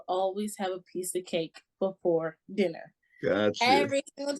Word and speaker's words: K.E.C.: Hey, So Kate, tell me, Yeah, you spell your name K-E-C, but it's yeah, pronounced cake.